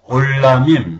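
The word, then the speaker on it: עולמים: 그 다음에 올라밈, 이것은 아인, 발음 안 해도 상관없습니다.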